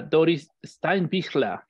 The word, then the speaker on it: Doris Steinbichler: Estamos muy contentos de tener, a ver si lo pronuncio bien, a ver si mi alemán, it's not sea oxidia, a Doris Steinbichler.